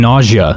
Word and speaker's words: Nausea: I met someone named Nausea. Name was on an application. I did my best to tactfully ask how to pronounce it, and she said, it's nausea, just like when you have to throw up.